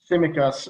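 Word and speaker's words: Tsimikas: it's symmetras is that is it a silent t is it do you know simicas uh that's how i would say it very little mate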